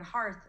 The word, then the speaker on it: hearth: means and the word hearth means the floor in front of a fireplace so it's spelled with an ear hearth but it sounds like r like heart you're right let's try